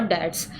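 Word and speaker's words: debts: money to पे your डेट्स इसको डेट्स बोलते हैं बी यहां पे साइलेंट र है जैसे कि द फेलियर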